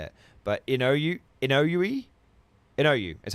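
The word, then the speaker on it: Inouye: On April 21st 1945 um Ino Inoi was grievely wounded while leading assault on the heavily defended Cole uh Musatello Ridge near San Torenzo, Italy. The ridge served. It's pronounced Inoa. Inaway.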